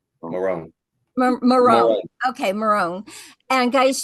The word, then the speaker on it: Morrone: Morrone.